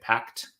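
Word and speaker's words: Packt: how to say this do you say it pact yeah i think that okay another packed book uh these are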